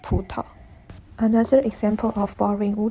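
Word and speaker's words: 葡萄: In the word budo, both syllables begin with a voiced stop. It is unique in Wu Chinese because in Mandarin, both syllables will start with voiceless stops, and the pronunciation goes like putao.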